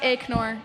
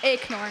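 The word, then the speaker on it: Aknor: your name it's it's ignore it's spelled a-k-n-o-r but it's ignore Acorn okay I like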